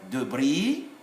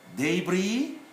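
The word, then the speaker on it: débris: make sound junction so here we have debris debris and then we write the s but we don't pronounce them that's the feature of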